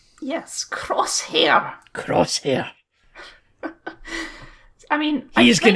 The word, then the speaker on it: Crosshair: It's Crosshair, like a gun. Crosshair. So. It's their accents, Kyle. We don't have those weird accents that the clones have. We have a Scottish accent. Yes, Crosshair.